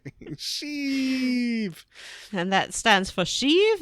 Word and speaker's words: Sheev: And that stands for Sheev, and that rhymes with peeve, and that stands for Cleve?